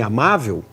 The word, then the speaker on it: amável: Ele não precisa ser alguém que diga assim, amável. Foi na pressa, ele pulou. Amável é uma palavra paroxítona, terminada em L, cuja sílaba tônica é a penúltima, e todas as paroxítonas